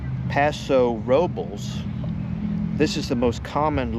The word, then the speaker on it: Paso Robles: There are two main pronunciations. Paso Robels. This is the most common local pronunciation in the Paso Robels area. Locals often say it quickly almost like Paso Robels or Paso Robels. Robels. Paso Roblaze.